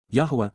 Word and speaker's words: Yahweh: surrounding him mm/ lyrics to sing Psalm 89:7 Yahweh Yahweh the proper pronunciation of the name of eloah God as